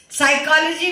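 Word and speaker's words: psychology: साइकोलॉजी में P silent है।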